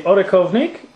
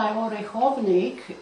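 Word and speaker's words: Orechovník: And how do you pronounce that again? This is the Orechovnik and the This cheese.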